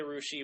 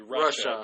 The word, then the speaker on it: Russia: supposed to be Versailles people say Russia well that's stupid it's supposed to be Russia but whatever Russia yeah